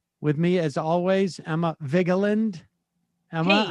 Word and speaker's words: Vigeland: Just you skip the E, just Vigland?